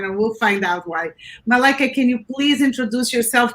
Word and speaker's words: Malaika: i am melika that's uh that's as in i like a malaika so um thank you